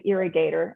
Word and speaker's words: Earigator: It's called the Irrigator, and it's spelled EARIGATOR.